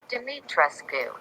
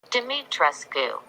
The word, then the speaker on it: Dimitrescu: Dimitrescu. What? That's not how you say it. Dimitrescu.